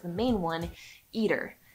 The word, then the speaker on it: ITER: like the main one Eater and yes that is really how it's pronounced I didn't think it was right either but I did check with some physicists friends it's it's eater and that was pretty